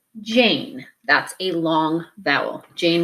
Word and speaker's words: Jane: a closed syllable word, so you would say Jan. As soon as we put this silent E at the end, your word changes to Jane.